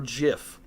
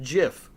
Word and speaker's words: GIF: gift pronounced GIF or gif um I gave away my answer at the beginning of that uh GIF it's pronounced GIF the person who created it says it's pronounced Jiff and they're wrong uh would you rather